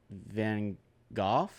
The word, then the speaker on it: Van Gogh: Starry Night Van Gogh you've been golf yes Van Gogh yes that's how you that's how you pronounce yes that's how you pronounce it Oh